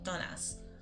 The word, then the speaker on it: dones: And then dones is spelled es, but again it sounds like a, donas. Las donas.